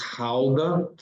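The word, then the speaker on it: Gouda: the cheese GDA it's not pronounced G it's pronounced Howa and uh so so I have family from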